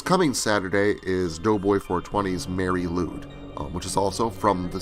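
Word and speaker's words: Mari Lwyd: Mary Lude Wikipedia. Why is it spelled like that? It is a holiday tradition from South Wales. So this is a video, a story that Doughboy420 wrote based on a South Wales tradition. It's spelled Marilwyd, and it involves attaching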